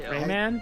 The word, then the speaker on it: Rayman: hear people talk about Raymond 3 or Raymond 2 I'm waiting for you guys to say it wrong like I do Rayman it's not going to happen I say it wrong intentionally it's Ray I've hear